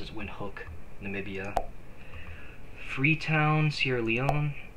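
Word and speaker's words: Windhoek: Serbia Tashkent Uzbekistan windhook that is how it's pronounced as windhook Namibia free Town Sierra Leone yaren nauru balita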